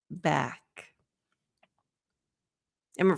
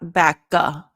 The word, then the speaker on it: back: dropped cut cut back back and for the K back you're going to have the the not backa don't add that vowel sound at the end it's just air back it's going to close